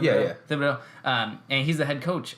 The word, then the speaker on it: Thibodeau: Thibodeau? Yeah. Thibodeau.